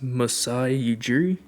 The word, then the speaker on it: Masai Ujiri: I think it's Masai Ujiri.